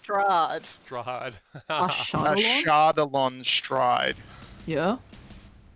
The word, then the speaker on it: Strahd: pronounced Strahd.